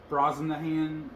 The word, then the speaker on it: Brosnahan: Um, Rachel Brosnahan, not sure if I'm saying it right, as Lois Lane.